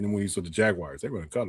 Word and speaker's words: Jaguar: It's spelled J A G A U R, not J A G W I R E. It's Jaguar.